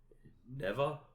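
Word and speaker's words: Neva: one of them is called Never though it is spelled like NE V A okay and um it's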